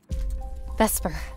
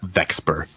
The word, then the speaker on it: Vesper: write my name wrong supposed to be Vesper not vexper idiots look I'm caught